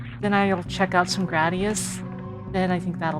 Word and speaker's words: Gradius: Like it has to be emphasized that Gradius does not rhyme with Gladius. Unless you just count the ES part. I know a lot of people will tend to call it Gradius because of uh Gladius, but no, it's Gradius.